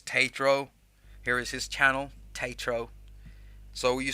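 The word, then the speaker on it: Taetro: that so here's tatro here is his channel taitro so you spell it t-a-e-t-r-o it's he's got a great channel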